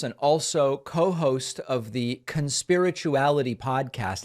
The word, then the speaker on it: Conspirituality: also co-host of the conspirituality podcast is that the way you say it or is it Khan's spirituality we usually de-emphasize the first syllable but we can talk about why um I mean conspirituality is good so let